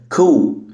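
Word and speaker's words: coup: انقلاب عسكري وهكذا كذا كو البي هنا سايلنت كو كو كو كمان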